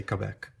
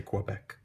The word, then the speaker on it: Quebec: 2 pronunciations are possible, Quebec or Quebec. The French, I think, say Quebec, but we say Quebec.